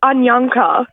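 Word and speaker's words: Anyankha: spell us your name yes so my name is spelled a n y a n k h a and Ana almost it's ananka ananka that's a beautiful name though where's that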